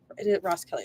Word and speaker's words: Roskelley: yeah from Camille Ross Kelly and from Moda Ros Kelly is the right way to say her name